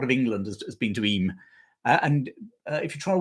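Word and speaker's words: Eyam: with Johnny no chance IM is spelled e y m most people from outside of the area call it IM and then they get shot down by anybody from that little bit of darish here who says it's not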